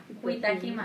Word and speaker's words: Kitajima: You don't pronounce the J. Kitajima.